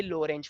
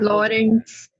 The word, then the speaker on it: Lorentz: बार पूछा गया है लो रेंज फोर्स, बट ये बहुत इजी है। Lorentz force में T silent है. हाँ लॉरेंस। लॉरेंज, हाँ टी साइलेंट, ठीक है, लॉरेंज थोड़ा आराम से बोलो, कुछ और ही बोल दो कहीं।